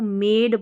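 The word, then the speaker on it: made: के जैसे इसमें देखिए इसको मेड पढ़ रहे हैं तो ए का उच्चारण लंबा है तो यह मैजिक ई वाला रूल लगता है यानी कि मेड ए का लंबा उच्चारण लॉन्ग प्रोनाउंसिएशन करने के लिए लास्ट में इ लिखना पड़ता है।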